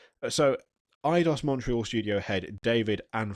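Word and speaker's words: Eidos: the name idos idos someone kept telling me it was pronounced adidos I was like I don't think it is but so idos Montreal Studio head David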